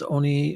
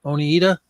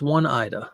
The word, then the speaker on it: Oneida: but is it this Oni oneada only how do you pronounce that Oneida I'm gonna put on Owen it's one Ida let's go one Ida that's how I spell